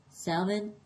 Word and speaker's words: salmon: Like, for example, when I say the word salmon, I have to say the L because in Spanish, the word salmon is salmon.